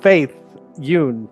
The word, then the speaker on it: Faith Yün: Audience, please welcome applause to Faith Yoon.